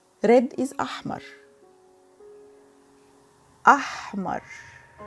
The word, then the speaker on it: أحمر: The first color we have is the red one, like strawberries, is ahmar. Red is ahmar. Ahmar. Remember, the H is pronounced ha.